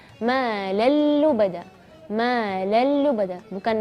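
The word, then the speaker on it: مَالًا لُّبَدًا: Ma lallu bada, bukan ma lan lubada, bukan, tapi ma lallu bada. Atau bacanya misalnya ma lan lubada, itu salah.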